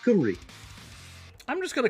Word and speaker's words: Cymru: So like in Welsh, the letter Y is pronounced as a U sound. So, like, Wales in Welsh is spelled C-U-M-R... No, C-Y-M-R-Y, but it's pronounced Cymru.